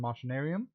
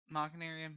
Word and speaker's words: Machinarium: weird art styles uh would it be machinarium not what probably yes machinarium is probably the proper way to pronounce it um you're not